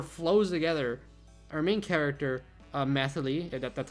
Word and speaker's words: Mythily: Our main character, Mythily, that's how you pronounce it.